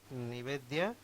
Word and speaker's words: निवेद्या: एफएम आजी आम आजिर अतिथि कार्यक्रम रे अछंती निवेद्या have I pronounced your name rightly?